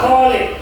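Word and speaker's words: خالد: Bukan huruf H ya. Kalau huruf ha itu golid. Tapi ini huruf huruf K ya. K. Kho itu berarti ada getaran sedikit ya. Khalid.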